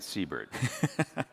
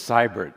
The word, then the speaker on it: Seibert: on and off and I always pronounce his last name Seabird. So I've learned that it's Cybbert not Seabird.